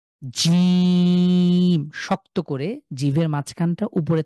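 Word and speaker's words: ج: সাথে strongly lock হয়ে জিম খুব শক্ত করে আমরা যদি কেউ জিজ্ঞেস করে যে তুমি কি খেয়েছো আমরা বলি হ্যাঁ জি তো জি এই জিটাকে যদি শক্ত করে বলি তাহলে এই উচ্চারণ হবে জিম আ কন্ঠের মাঝখান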